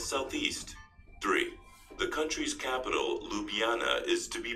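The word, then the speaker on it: Ljubljana: the South and Southeast three the country's capital lupana is to be pronounced as lupana without any JS four Slovenia is known for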